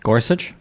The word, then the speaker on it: Gorsuch: the guy's name uh starts with a g Gorsuch Gorsuch thank you uh Gorsuch actually uh the